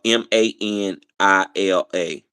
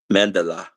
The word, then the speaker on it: Manila: Maybe I was saying it wrong. Okay, that's Manila.